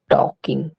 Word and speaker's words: talking: बात करना को टॉक, TALKING, टॉकिंग, यहाँ पे एल साइलेंट होता है।